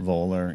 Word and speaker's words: Voller: Voller.